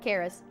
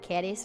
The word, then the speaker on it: Charis: i was like no i say it like charismatic like the english use of the word charis but it's supposed to be like caddis or something like that something but it was